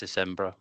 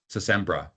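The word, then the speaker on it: Sintra: So I got basically a vacation pass from my wife to visit this city called Sempra. How is that pronounced? Phil, how do you pronounce it? It's Sembra. Sembra.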